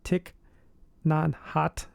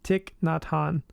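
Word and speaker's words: Thich Nhat Hanh: of the world but I think his name is Tick nonot let me let me look at it said it wrong yep tick not Han and the book title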